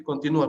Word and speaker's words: continúa: Cuando lleva la tilde en la U, ahí es continua. Perdón, en la I, continua, ¿ya, hijos? Sí, continúa, perdón. Cuando lleva en la U es continúa. Profesor, Cuando no lleva tilde es continua, ¿ya, hijos?